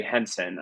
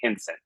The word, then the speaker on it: Henson: my name is Henson I used to say Henson Henson it's just you know the pin pen thing like a southern switch also I was just